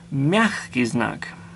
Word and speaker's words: мягкий знак: The next letter in the Russian or Cyrillic alphabet is мягкий знак. And like its twin твердый знак, which means hard sign, мягкий знак, and the g here is pronounced like a ch, мягкий знак.